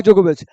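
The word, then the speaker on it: Djokovic: हुआ है नवाक जोकोविच डी साइलेंट होता है नोवाक जोकोविच किस कंट्री से सर्बिया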